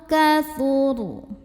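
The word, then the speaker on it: كَثُرَ: Au kathuru. Kemudian ro apabila berhenti dibacanya secara tafkhim. Kenapa? Ro-nya ini kan pasti jadi sukun kalau berhenti. Huruf sebelumnya dhammah ya, barisnya di atas, maka ro-nya tebal.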